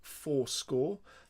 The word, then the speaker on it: forScore: bit of software called Fourscore. That's spelled Forscore, Fourscore, which is really, really useful.